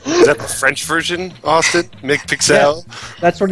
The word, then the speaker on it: McPixel: is this is that the french version austin mick pixel that's what it's yeah that's that's how it's supposed to be pronounced seriously it's weird i know oh dear